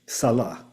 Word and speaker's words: Salah: Salah. Did I pronounce that well? Or is it Salah? Yes, Salah.